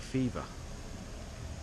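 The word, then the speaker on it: Phewa: um the main sort of shopping road and the lake um lake I think it's pronounced lake fever um but it's spelled p h e w a I think so um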